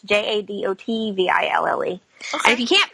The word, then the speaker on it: Jadotville: So yeah, it's Siege of Jadadville. So it's Jadotville.